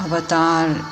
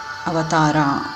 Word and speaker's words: avatar: actually feel that it's the Americanized version of words like Avatar avatara it comes from Sanskrit word and just saying it